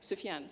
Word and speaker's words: Sufjan: Should I take how do you pronounce the name? Sufjan Stevens, the singer? Vera, do you know? Sufjan, there we go.